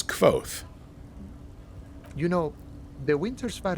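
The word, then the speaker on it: Kvothe: Official pronunciation is Kvoth.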